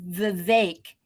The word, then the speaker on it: Vivek: Let's just remember that Vivek is actually pronounced Vivek.